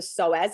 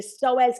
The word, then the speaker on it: psoas: in within our body and it's called the psoas it's spelt p-s-o-a-s and it attaches from the mid